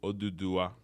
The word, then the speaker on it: Oduduwa: So the full name is Oduduwa, but the short name, which the one mostly everyone says, is Odua, which is much more digestible.